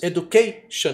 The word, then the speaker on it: education: E quando é terminada em T-I-O-N, que é o nosso shan em inglês, geralmente a tônica é uma sílaba antes, education.